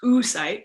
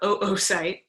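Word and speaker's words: oocyte: is the unfertilized egg also known as an oo site not pronounced su site but oo site and then it has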